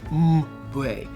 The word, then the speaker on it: Mbue: Well, first of all, I, like many of you, I could not pronounce the author's name. Her name is Imbolo Mbue. You just Mbue.